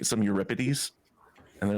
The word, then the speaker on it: Euripides: Euripides. Close. Not ripe like fruit. Rip like a parchment. Euripids.